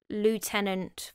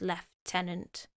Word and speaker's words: Lieutenant: failure as Lord Lieutenant is the same as Lieutenant for the American viewers. It's spelled exactly the same, but it's just pronounced as Lieutenant.